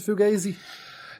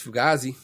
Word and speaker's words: Fugazi: Fugazi boozy or Fugazi Americans pronounce a fugazy they probably wrong it's Fugazi a pic waiting room